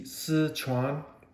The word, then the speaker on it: Sichuan: but you know what actually it's pronounced SI Sichuan uh Province seven mace and